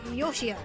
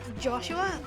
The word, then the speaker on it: Joshua: The proper pronunciation is Yoshia, for my first name. is my last. So, Joshua is not exactly accurate.